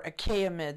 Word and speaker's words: Achaemenid: The Achaemenid Empire, or Achaemenid, the way it's properly pronounced, was really the most Persian of the four empires.